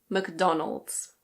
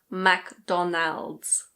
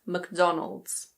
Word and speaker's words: McDonald's: Another one that needs no introduction - in British English this one is McDonald's. McDonald's. Be careful. It's not Mac-DonAld's. Ok? It's McDonald's.